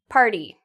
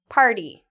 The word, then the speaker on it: party: you to think about which words do I pronounce T like addy okay so the first word party party okay party if you said this is like addy you